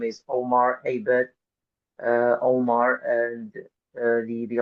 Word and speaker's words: Abed: email but but LinkedIn my name is Omar Abed uh Omar and the the last name is is spelled AB b e so yeah they can